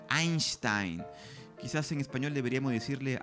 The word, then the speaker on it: Einstein: esa lengua por ejemplo decimos albert eisntein en inglés cuando un alemán sería más bien albert einstein quizás en español deberíamos